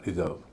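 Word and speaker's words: reserve: आर ई एस ई आर वी ई रिजर्व यह verb है। दूसरे सिलेबल पर स्ट्रेस है। पहला सिलेबल हल्का होता है। उच्चारण रिजर्व।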